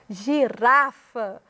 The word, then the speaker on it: girafa: Girafa, o rá é que tem mais ênfase.